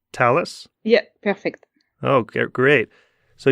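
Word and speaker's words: Thales: talis lab in France is that how you pronounce talus yeah perfect okay great so you do work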